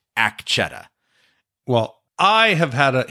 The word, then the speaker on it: Akecheta: and I noticed that the tribe seems to pronounce it Akecheta, and Ford calls him Akecheta. Kohana calls him Aki.